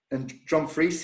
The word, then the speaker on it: Dumfries: And by the way, one word warning: you have to spell it phonetically, because, for example, in Dumfries here, it's DRUMFRIES, which phonetically is Dumfries.